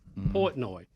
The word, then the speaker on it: Portnoy: Portnoy, had this, sold it for like $500 million.